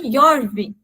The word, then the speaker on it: Jorvik: E os nórdicos que ali chegaram não conseguiam, né, ou não tinham o costume de usar essa pronúncia, eles adaptaram para Jorvik, né, o som mais forte. E aí foi até se tornar York.